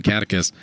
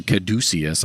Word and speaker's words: Caduceus: The Griswold's Redemption Catechus, or Caduceus, I believe is as actually it's supposed to be pronounced, can be used by anybody.